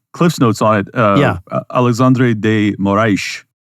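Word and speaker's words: Alexandre de Moraes: notes on it uh Alexandre de Moray I'm pronouncing it with the Portuguese accent for Brazilians but uh he is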